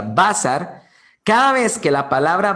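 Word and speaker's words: בשר: palabra hebrea basar, que son 3 letras hebreas, bet, sim y resh, cada vez que aparecen estas 3 palabras hebreas, bet, sim y resh, que se pronuncia basar, cada vez que la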